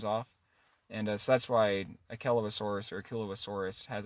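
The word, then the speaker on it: Achelousaurus: Some people say Achelosaurus. That's how it's spelt phonetically. Okay. The correct scientific pronunciation is Achelosaurus, which is just crazy.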